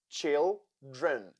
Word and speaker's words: children: Children, children. Here we have 2 syllables and the first one is stressed. Therefore, the second one has letter E that sounds like children.